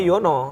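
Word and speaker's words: Juwana: Sebenarnya tulisannya juana. Heeh. Tapi bacanya bacanya Yono. Kayak bandeng Juana kan.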